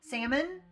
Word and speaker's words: salmon: And in salmon, salmon, it connects back to the Latin word.